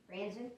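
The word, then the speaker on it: Franzen: Dave Franzan, is that how you pronounce it? Franzan, okay.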